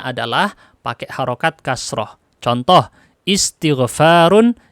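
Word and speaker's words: استغفار: Contoh, istighfarun, istikbarun, intiqamun. Tidak mungkin dibaca ustaghfarun atau astaghfarun atau astakbarun. Nggak mungkin. Pasti dibacanya istighfar, istikbar, intiqam.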